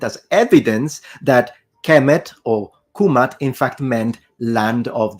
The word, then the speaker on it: Kemet: u in that position so if we really want to be precise then the correct and most likely pronunciation in ancient Egyptian specifically in classical Egyptian is kumat kumatu nominative kumata accusative and kumati oblique genitive now let's discuss this